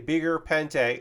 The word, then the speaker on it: Beguir-Pente: The Beguir-Pente. I try to say it French. It's not a French word. It's a made-up word, but Pente, pronounced like that.